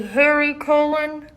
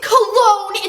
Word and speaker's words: Cologne: Oh my god, it's Cologne! It's pronounced Harry Cologne Jr.